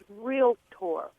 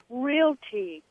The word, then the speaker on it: realtor: realator and I'm caring the word is realtor real te and she says well I'm from North Carolina and that's the way we pron it I said Karen it's not a colloquialism it's mispronounced and but I just